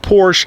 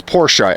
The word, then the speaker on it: Porsche: with the Porsche owners it's not Porsche it's Porsche and the reason I know that is because while the first time I ever come up to a guy in a Porsche Panamera at a gas